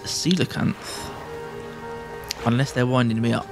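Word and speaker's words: coelacanth: think it was uh it's actually pronounced silicanth unless they're winding me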